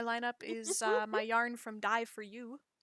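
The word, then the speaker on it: Dye for Ewe: Next in my lineup is my yarn from Dye for You. Die for you, cause it's spelled E-W-E. Yes, Dye is in color and U is in sheep.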